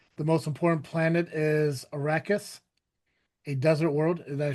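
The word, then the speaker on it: Arrakis: The most important planet is Arachus, a desert world. Did I pronounce that right?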